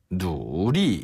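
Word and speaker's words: 努力: 열심히 하다, 노력하다라는 표현은 중국어로 놀이라고 해요. 누리. 네. 요거 한자어 노력이란 단어거든요. 노력을 중국식으로 발음하면 놀이 누리 한 번 더 노리 누리 그리고 공부하다라는 표현을 쉬의 시라고 하는데요.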